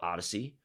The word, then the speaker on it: Odyssey: that we're launching, and the technology is called Odyssey. Okay, so that's ODDYSEE. It's not spelled the same, but what it means is journey, right?